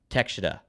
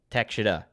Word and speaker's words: Takeshita: It's Takeshita. Thank you, Takeshita.